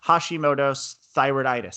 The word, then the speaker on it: Hashimoto's thyroiditis: has a autoimmune disorder that I can't really pronounce its Hashimoto's thyroiditis I think how you say you got it